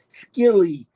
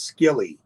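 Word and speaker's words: Scilly: and yes it's called silly Cove it's it's s-c-i-l-l-y Cove records skilly if you're pronouncing it that way if you're an American it is skilly Paul bump um again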